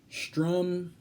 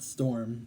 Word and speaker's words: Strom: pro tempore II is Strom Thurmond who has a Republican hit yeah it's not storm it's it's actually spout st r om so make your own